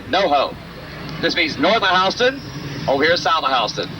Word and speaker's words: Houston: This is spelled Houston, but it is pronounced Houston.